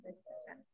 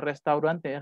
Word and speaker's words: Restaurant: Las palabras francesas, los alemanes las pronuncian tal cual, como naranja, orange, con la R más, ya saben, la R francesa, gutural en la garganta, orange. Es el caso de restaurante, restaurant, la van a pronunciar en francés.